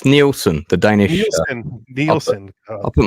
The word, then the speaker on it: Nielsen: here so let's bring him on uh Nelson are you there I am it's pronounced neelson the Danish neon I'll put my camera on